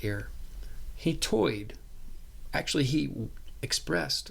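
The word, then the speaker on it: Ayer: Um and or that's how it's it's it looks like, but it's pronounced air.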